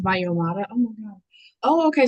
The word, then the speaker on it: Valloyomara: So it's pronounced Valloyomara.